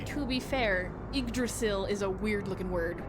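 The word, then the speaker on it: Yggdrasil: to name correctly but I used to call it the yagil or the agrol Yol because I mispronounced it horribly horribly badly to be fair igdrasil is a weird looking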